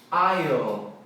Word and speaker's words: isle: E o legal é que tem outra palavra para ilha em inglês, que é island, que é isle.